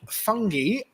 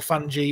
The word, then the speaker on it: fungi: what what use would fungi or fungi or fungi depending on where in the world and how you want to pronounce it and other death regenerating